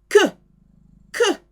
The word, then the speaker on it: queue: Que. It sounds like que, the Q-U-E. Que. Pronounced like that because Q-U is a K sound.